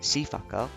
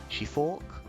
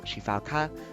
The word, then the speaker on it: Sifaka: I called it the Sifaka, which is wrong. It's actually the Shifork, or Shifauk, or Shifaka, just mainly because of